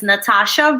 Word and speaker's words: Nathasha: But my artistic name is my real name, which is Nathasha. So watch out, Greg. Yep. There's a silent H after the T, just so you know.